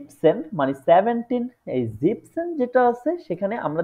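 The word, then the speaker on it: siebzehn: তাইলে এখানে হইতেছে জ্যাকসেন জিপসেন ঠিক আছে এটা জিনসেন হবে না কখনোই এটা হবে জিপসেন ঠিক আছে তারপরে যেটা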